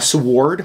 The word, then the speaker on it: sword: A sword? We're pronouncing the W now.